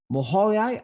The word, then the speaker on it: Mohyla: management specialist from the National University of Kiev Mohyla Academy in Kiev, Ukraine. I'm pronouncing the name of the academy wrong, probably.